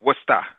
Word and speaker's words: Worcester: Wait, how do you say it? It's Worcester. Yeah, I hear there's multiple ways of saying that, but I figure I'd ask the Bostonian.